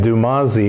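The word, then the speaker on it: Dumuzi: a son of aphrodite now how did you spell that because that that's jumasi yeah d-u-m-u-z-i but i'm saying dumasi is that is the spelling used in the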